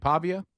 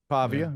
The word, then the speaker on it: Pavia: Pavia. Pavia.